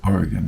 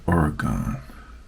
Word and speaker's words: Oregon: Oregon State University Oregon he always corrects me it's Oregon not Oregon I'll learn how to